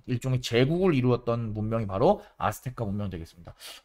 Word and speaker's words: 아스테카: 상대적으로 아마 여러분이 마야 문명이나 이제 잉카 문명보다는 덜 들어봤을 텐데 옛날에는 이제 아즈텍 문명이다 이렇게 얘기를 많이 했었는데 요새는 아스테카 문명이라고 얘기를 하니까 여러분들은 발음을 살려서 아스테카라고 읽어주면 좋겠습니다.